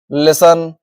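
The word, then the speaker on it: listen: इसके एग्जांपल्स हैं। देखिए कैसल लिसन विसल इनमें टी आ रहा है। देखिए लेकिन उसका उसकी जो साउंड है वो नहीं आ रही है। है ना? तो यहां पर क्या है? टी साइलेंट हो चुका है।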